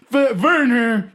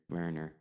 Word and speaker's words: Werner: Oh, yeah, the V where it's supposed to be a W threw me off. Werner. Well, yes, the Bavarians share the pronunciation of W's as V's with the Germans, but our accents are a bit different.